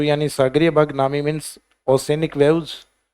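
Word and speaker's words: Tsangpo: सांगो T silent होता है।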